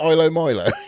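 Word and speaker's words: ilomilo: anyway so it's uh ILO Milo is it ILO Milo is how you say it NDA oh picking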